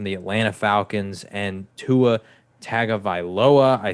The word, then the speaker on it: Tagovailoa: matt ryan from the atlanta falcons and tua tagovailoa i said his name wrong last time and dolphins fans slaughtered me uh tagovailoa uh they they have some pretty favorable matchups